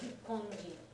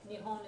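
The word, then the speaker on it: 日本: normal everyday conversation to talk about Nippon instead of Nihon. Yeah. Nihon is the more normal pronunciation in modern colloquial speech.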